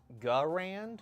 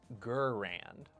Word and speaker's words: Garand: about pronunciation and firearms, would you say that it is a Garand or a Gurand? Because historians, as well as leaders within the firearms industry and small arms historians, will pronounce it differently. Garand or Gurand.